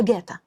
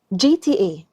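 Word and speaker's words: GTA: قوي قوي قوي قوي بتنطقها جاتا نطقها السليم هو جي تي اي اختصار لجران ثفت ارو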